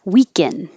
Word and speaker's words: weaken: Weaken, weaken. Sounds the same as weekend because we won't release the D.